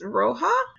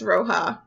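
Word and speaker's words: Rojh: I think it's Roja, because it's spelled R-O-J-H, but it takes place in Mexico in 1870. So I believe the J is an H, because that is how Spanish works.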